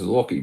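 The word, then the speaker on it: Lochie: And you shout out, my name is Lockie, but the ch is pronounced K. Yeah, Lockie, not Wacky.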